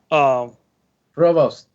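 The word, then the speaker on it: Prevost: Question from Lonnie Hammer, but I need help with pronouncing it because I suck at pronouncing this word. What tour bus do you prefer? Provost.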